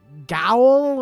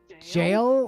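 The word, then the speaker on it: gaol: it and we're like he's like gowl or like you mean jail like g-a-o-l yeah that's jail Sarge it's an archaic spelling of jail yeah was that also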